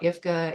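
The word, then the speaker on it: IPHCA: And so you're going to see this, you may hear me talk about IFCA, Indiana Primary Healthcare Association. We pronounce that PH phonetically as an F.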